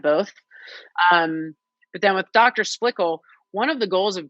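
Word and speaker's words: Splichal: How do you pronounce her name? Splickle, Emily Splickle.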